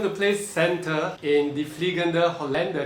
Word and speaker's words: Der fliegende Holländer: play Senta in the fliegende Holländer. Did I say it right? Yeah, pretty good, pretty good. You say it. De fliegende Holländer.